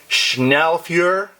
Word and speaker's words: Schnellfeuer: I'm going to butcher the pronunciation of this German word, but it's Schnellfeuer, something like that, spelled Schnellfeuer.